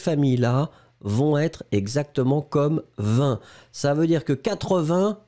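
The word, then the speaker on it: vingt: Oui, effectivement, vin, V-I-N-G-T, le G est muet. Encore une fois, tous les mots de cette famille-là vont être exactement comme vin.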